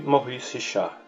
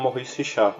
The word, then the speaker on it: Maurice Richard: Joseph-Henri Maurice Richard, nascido em 4 de agosto de 1921 em Montreal, mas conhecido como Maurice Richard, ou Maurice Richard, se você preferir a pronúncia anglófona.